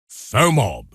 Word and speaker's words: FOMOB: FOMOB, noun, pronounced FOMOB. Fear of missing out on business.